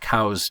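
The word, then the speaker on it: Coues: after him but it it shouldn't be pronounced C deer it should be pronounced cow's deer um so Elliot cows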